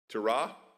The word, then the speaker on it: Terah: And it was because Abraham smashed his father Terach, I don't know, how do you say it in English? Terah? Okay, in Hebrew it's terah. So allow me terah.